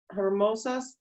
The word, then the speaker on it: hermosas: En el verano hay plantas verdes y flores hermosas en los parques. Ajá, muy bien. Don't forget the H is silent, okay?